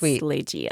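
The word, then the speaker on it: Ligeia: I remember looking up the pronunciation and putting it in my notes. It's Leia.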